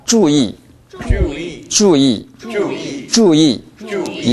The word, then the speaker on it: 注意: 주의. 주의. 주의. 주의. 주의. 주의. 이때는 이 발음이 주보다 약합니다. 주의. 주의. 네, 주의 하지 마십시오. Y 발음을 살리십시오. 주의. 주의. 주의.